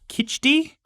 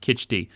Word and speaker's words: khichdi: okay uh he made what's called i'm gonna pronounce this wrong kitchi okay it's uh like a porridge with like lentils and rice and he just stopped and like made himself this big bowl of khichdi uh which i looked up the recipe and